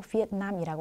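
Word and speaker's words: Việt Nam: 영어에서도 베트남이라고 하지 않고 비엔남이라고 합니다. 그래서 원래는 그 나라 사람들이 부르는 그 발음 그대로 불러주는 게 제일 좋겠죠. 네, 그래서 원래 원어라고 해야 되나? 베트남어는 비엔남이 맞습니다.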